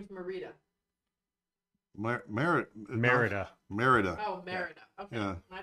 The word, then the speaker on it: Merida: Marita is the Disney princess from Brave oh Marita is it yeah her name is marid mer Merida Merida oh Merida okay my bad well I